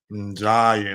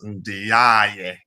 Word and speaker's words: Ndiaye: Ndiaye. Now I know how you pronounce his name correctly. I've been pronouncing it as Ndiaye.